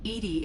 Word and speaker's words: EDI: is a jar why are you named Edie Edie is the phonetic pronunciation of EDI we know that it's an